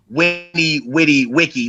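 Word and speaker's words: veni, vidi, vici: funny thing, right after Winnie Witty Wiki, which is the correct pronunciation, but ain't nobody pronouncing it like that. We're Americans. Facts. Right after Vinny Bitty Bitchy.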